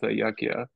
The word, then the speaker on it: yajna: You also spell it with a J, yajna, but it's ayakya.